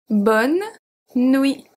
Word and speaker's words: bonne nuit: We simply say bonne nuit. Bonne nuit. So we don't pronounce the E at bonne. We don't pronounce the T at nuit.